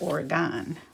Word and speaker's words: Oregon: in Oregon Oregon Oregon they say in Wisconsin we have a community spelled the same but we pronounce it Oregon these are cool this